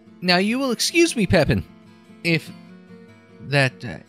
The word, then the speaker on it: Pepin: Now, you will excuse me, Pepin, if that... I'm assuming Pepin and not Pepin. A little more French pronunciation.